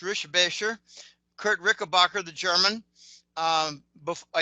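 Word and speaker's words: Richebächer: I've actually met Kurt Rickenbacker, which is actually pronounced Rischbecher.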